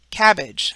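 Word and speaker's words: CABG: acronym which is a term that can be pronounced from its abbreviated letters so an example of this would be cabbage c-a-b-g which stands for coronary artery bypass graph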